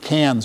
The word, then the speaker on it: Cairns: We are going up to, they pronounce it Cairns, by the way. Cairns, like the city in France, no R's.